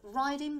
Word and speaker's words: writing: Raven and writing desk both sound like they start with R, but due to impractical formalities, writing begins with a silent W.